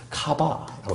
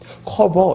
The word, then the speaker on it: 카바: 요거 읽을 때 어떻게 읽으시면 좋으냐면 카바라고 읽으면 좋아요. 뭐예요? 카바 이렇게 커버 이렇게 읽으면 안 돼. 요거는 그러면 말에 맛이 안 살아. 카바라고 야 됩니다.